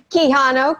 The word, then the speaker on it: Quijano: we i can spell just make sure kihano q-u-i j-a-n-o and i think of it like a key so it's pronounced keyhole beautiful and is there anything that